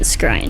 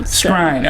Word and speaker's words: Skrein: lot of interviews and everyone was pronouncing it scrine scrine okay so Ed scrine no disrespect if we